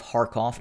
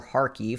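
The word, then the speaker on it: Kharkiv: to the southeast of harkoff or harkeef however you would like to pronounce it the the ukrainians have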